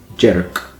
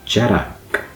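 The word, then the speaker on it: dearg: It looks like it would be said Jerk, but it's Jerak. It's got a kind of a vowel between those two syllables there.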